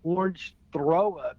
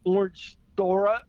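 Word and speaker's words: Orangethorpe: And I I called the street Orange Throw Up because I couldn't pronounce it. It's Orange Thor.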